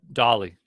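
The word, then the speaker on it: DALL-E: one called uh uh dolly dolly dolly thank you so like da d8 like Dolly like the the um artist oh close because it's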